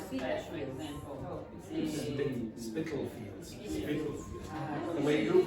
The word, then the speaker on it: Spitalfields: Spitalfields. Spitalfields. The way you pronounce it sounds like pedophiles.